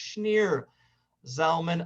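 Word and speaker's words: Shneur Zalman: read rabbi schneer zom and i keep saying schnoor but it's actually pronounced schneer zalman of lyadi from belarus from formerly russia you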